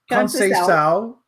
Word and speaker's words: Conceição: Her name is Conceição, which is Portuguese / Brazilian.